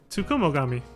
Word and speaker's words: Tsukumogami: These vessels turned kami are known as Tsukumogami. There we go. I'm gonna take a minute to really look at that before I could see how to pronounce it. Tsukumogami.